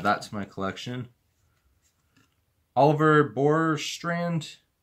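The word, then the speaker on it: Bjorkstrand: Oliver Borstrand. I believe the J is silent.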